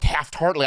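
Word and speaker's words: Taft-Hartley: right and then there's this mysterious thing called Taft heartly I don't know what the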